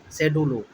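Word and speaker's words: schedule: में कैसे याद रखेंगे एस सी एच ई डी यू L saddle शेडल सी साइलेंट है सी साइलेंट है शेडल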